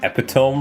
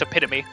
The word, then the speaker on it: epitome: for some t pronounce epome wrong. I don't think we even use that word. He is right. You did pronounce it wrong. It's epitome. Oh, I guess that looks like epiome to me.